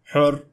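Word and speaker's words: حُرّ: One can either say har, hir, or hur. The idea here is that sometimes harakat matters, as in this example, har, which means hot, but on the other hand, hur means free.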